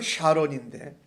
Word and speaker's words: 사론: 이 베드로가 예수 그리스도께서 낫게 하신다 하고 선포할 때에 그 여인이 곧 일어난 이 사건을 통하여서 루다라는 곳과 거기에 가까운 곳에 사론, 영어 발음은 샤론인데 거기 사는 사람들이 다 그것을 보고 그를 보고 애니아가 낳은 것을 보고 주께로 돌아왔다라고 말합니다.